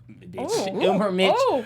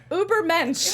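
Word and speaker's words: Übermensch: Uber Mitch. However you say it. I'm gonna say it. Uber Mensch. Right.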